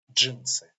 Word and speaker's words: джинсы: This combination of two letters pronounced like J. Джинсы.